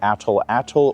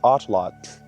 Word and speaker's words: atlatl: of the language nawat you do not pronounce the L at the end of the word as a syllable. So pronounced correctly the word is atlot.